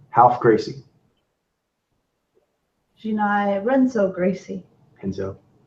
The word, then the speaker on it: Renzo: Yeah, that's how they pronounce it, the Brazilian with the R.